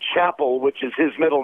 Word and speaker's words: Chapel: out under the name Chapel, which is his middle name, but we changed the band's name to Pyle Tribe because everybody kept pronouncing it Chappelle.